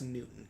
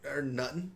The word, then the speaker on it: Newton: It's Newton, Josh. We need to work on your pronunciation. What did I say? Newton. Newton. Or Nutton. Nutton. I think it was Nutton.